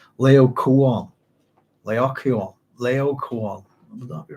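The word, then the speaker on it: Laocoön: guy's pronounced this right, Laocoon. Would that be right? Laocoon. We'll go with that. Laoc, double O with an umlaut over the second O-N is how that's spelled.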